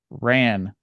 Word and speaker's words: Ran: It is Ran. Yes. Okay. I was like, this is too good to be true. There's no way. It's actually pronounced like Harakiri. It just looks like Ran.